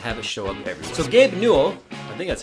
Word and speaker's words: Newell: and have it show up everywhere so gabe newell i think that's how you say his name newell n-e-w-e-l-l who is the boss over at val